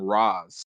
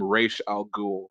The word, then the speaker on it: Ra's al Ghul: Because I think his pronunciation got, but I don't want to say it was butchered, but they changed the pronunciation to Arrow because in the Arrow they call him Raz, and I'm like, really?